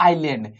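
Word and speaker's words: island: में बोलता है आइलैंड आइसलैंड लिखेंगे लेकिन पढ़ेंगे इसको आइलैंड ये एस साइलेंट रहता है दीप किसे कहते हैं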